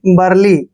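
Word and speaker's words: burly: यहाँ पर बी यू का जो उच्चारण है बै करेंगे, ऊ का जो उच्चारण है यहाँ पर नहीं करना है, और आर को रै लिखेंगे, एल वाई को ली पढ़ते हैं ऐसे, और आर को यहाँ लगाएंगे ऊपर रै के रूप में।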